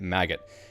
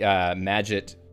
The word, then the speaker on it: Magit: go look at the magit website there's a pronunciation guide for it which sounds like you're supposed to be like magit magic but get instead all right so let's